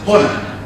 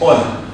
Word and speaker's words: honor: The word written as honor, with beginning with an H, is never pronounced as honor, it is honor.